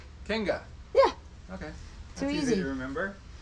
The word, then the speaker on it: Kinga: Kinga. Spell it. It's a king with an A. Kinga.